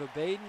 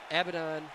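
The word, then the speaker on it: Abadon: rosa rijo i believe abaden is in it abaddon abaddon i'm sorry one of my loyal viewers has corrected me and told me i'm mispronouncing that and uh next up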